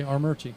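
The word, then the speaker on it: Armuchee: Well, that's how he he provided sort of the uh the pronunciation as R Merch E. Okay. R Merchie.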